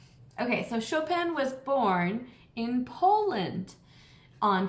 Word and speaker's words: Chopin: it looks like Chopin everybody says Chopin it's not chopping you say his name sho pan like a show and a pan like a frying pan Chopin can you